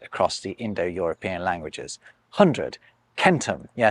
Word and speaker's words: centum: Take all these different words for “hundred” across the Indo-European languages: hundred, “centum” - yes, it’s kentum, not sentum - “hekaton”, “sto” and “shatam”.